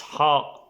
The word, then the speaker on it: ح: It's same like H, but it's more strong and more different. It's not really H because they have H in Arabic and it's like he.